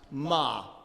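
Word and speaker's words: מה: The Hebrew for the word what is pronounced ma.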